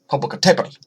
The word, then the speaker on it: Popocatépetl: Popocatépetl, actually, is probably how it's pronounced.